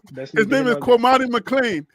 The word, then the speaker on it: Kwamani McLean: His name rhymes with money. He needs to gain about 15 more pounds because he's a little light behind. But his name is Kwamani McLean.